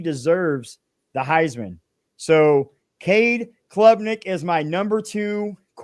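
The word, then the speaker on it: Klubnik: and I was like his last name is Clubnik. I've been saying it wrong this whole time and so I do want to iterate guys that his name is Cade Clubnik out of Clemson.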